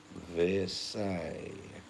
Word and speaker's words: Versailles: Versailles. Versailles, not Versailles. Well, it's Versailles.